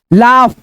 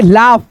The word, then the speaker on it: laugh: उसके बाद से LAUGH, मैंने पीछे ही बताया था इसके पहले वाले वीडियो में कि मतलब AUGH आ जाए तो आप फ के रूप में उच्चारण करेंगे। जैसे यहाँ पे देखो लाफ, क्या पढ़ेंगे?